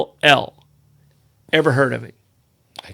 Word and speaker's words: Corll: And it's Corll. Ever heard of him? I couldn't even pronounce it.